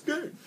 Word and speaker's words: Gideon: Let's see, Borgamos, Master Biomancer, Gideon! And then Stomping Ground. Is that how you say his name? It's Gideon!